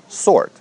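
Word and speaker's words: sword: выкидываем букву с следующее слово сорт это не спорт это 40 меч здесь не читается буква w сорт просто сорт запел из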